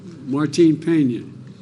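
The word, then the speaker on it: Martín Peña: canal to restore Cano, help me with the pronunciation. Martin Peña.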